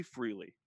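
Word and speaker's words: Frēlē: if we say Freely, what it is called is Freely, but how it looks, how it is spelled is F-R-E with the vowel sign, that line above the E, L, and then again that E with that long E vowel sign above it.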